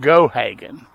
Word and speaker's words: Gohagan: Now, apparently Gohagan. Okay. Took me a minute to catch that, but that would be pronounced Gohagan. Took me a second, and